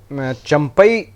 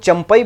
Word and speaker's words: चंपाई: हैं झारखंड में देखिए चंपई सोरेन हम लोग चंपई बोल रहे हैं लेकिन असल जो है उनका प्रोनंसिएशन होता है चंपा लेकिन अगर हम अपने